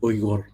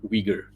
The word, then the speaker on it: Uyghur: By the way, it's pronounced Uyghur, not Uyghur.